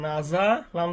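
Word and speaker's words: نَزَلَ: যেমন এখানে একটা শব্দ হয়ে গেছে, কাপ জবর কা, তা জবর তা, বা জবর বা, কাতাবা, নুন জবর না, ঝা জবর যা, নাজা, লাম জবর লা, নাজালা, র জবর র, ফা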